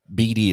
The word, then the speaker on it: Bedy: um and so be Bey is is it Bey or B I can I always say her name wrong BD is how we've been saying b d y always messes me up